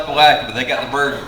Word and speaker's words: Palatka: And we have one teacher that wasn't quite sure how to pronounce Palatka. And y'all have heard Palatka, Palataka, and you can imagine the number of ways.